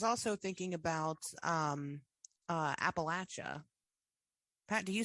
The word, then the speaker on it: Appalachia: U but I was also thinking about um uh Appalachia.